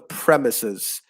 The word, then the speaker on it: premises: word and that was premises so yeah the stress in that word is on the first syllable the premises of uh you know